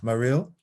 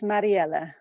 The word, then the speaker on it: Mariella: have is for um mariel i think i'm pronouncing your name wrong i have a feeling uh it's actually a french name it's it's mariella mariella it's going to take